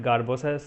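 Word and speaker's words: Sgarbossa: last topic garbosa criterias we call it garbosa s is silent so there is elevation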